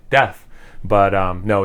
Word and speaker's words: Deth: and yes it's pronounced death feel free to comment on it because it probably does help the algorithm if you comment no it's pronounced like death but um no it's